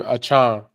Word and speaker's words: Achane: You're supposed to pronounce his name Achane.